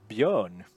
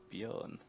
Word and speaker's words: Björn: Oh, Tell us how your name is pronounced. Björn. Bjorn.